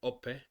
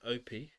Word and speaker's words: Ope: why I wanted to learn how pronounce it correctly Oppa rather than Opie Oppa because it's a matter